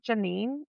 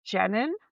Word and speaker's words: Jennine: say her name and it's not Janine, it's Jennine.